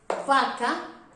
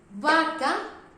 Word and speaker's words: vaca: If I say, for example, bonito, but if I say vaca, it's exactly the same sound. Bonito, it means beautiful, or bonita, beautiful. Vaca, cow.